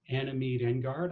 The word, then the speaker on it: Anna Meade Engard: and an all-around amazing person her name is Anna Mead and guard I'm assuming I pronounced that right that's right okay so at